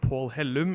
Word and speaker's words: Pål Hellum: yeah thank you uh so my name is Paul Helm uh or pronounced Paul Helm in Norwegian I am from Oslo which is